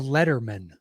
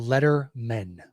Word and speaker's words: Lettermen: Whitehurst and it is the Lettermen the letter men I should I put the uh Accent on the wrong salable there the letter men so much song to